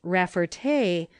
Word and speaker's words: Rafferty: French origin, and that the name should be pronounced Rafferty, with the accent on the last syllable; while, if Luther Jones